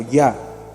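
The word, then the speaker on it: Yah: He, equivale al YH, conocida y pronunciada como Ya, que traduce Dios, y en forma latinizada como Ja, en los salmos y en el griego Ia.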